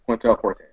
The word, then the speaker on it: Quintale Forte: Pronounce them for me. You got mine, Troy. It's Quintel Forte.